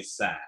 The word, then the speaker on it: Sgr: And we write SGR, but we say Sag just because that tells you you're an insider if you know how to say it.